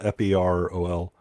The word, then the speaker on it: Ferol: Like, Yeah, it's Private Ferrol, Ferol, yeah. but pronounced like feral, like wild.